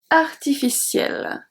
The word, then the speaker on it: artificielles: Artificiel, artificiel. The letters after L are silent. E and S are silent.